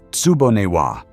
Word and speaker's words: tsuboniwa: Older Japanese homes were built around Atsuboniawa, pronounced tsuboniwa, a tiny garden tucked inside the floor plan, kept in shade by the surrounding rooms and deep eaves.